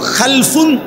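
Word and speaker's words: خَلَف: একটা হল খালফুন আরেকটা হল খালাফুন।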